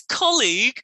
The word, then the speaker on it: colleague: colleague and one's garlic so ko is different from gar garlic colleague and i'm making my mouth more so you can see how you say it garlic and golly ick is different from egg the end of colleague is egg the end of garlic is ick yeah so colleague can